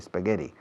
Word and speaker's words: spaghetti: Fijaos en la pronunciación de la SP de spaghetti. No pongo una E delante, no digo spaghetti.